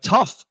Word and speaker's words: tough: Number two, just by removing that H, we have tough. The test was really tough. It sounds like two Fs. Stuff. S T U FF. Tough.